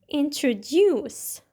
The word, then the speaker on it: introduce: out loud for example the word introduce is pronounced with a stress at the end so it sounds like this introduce sometimes where you put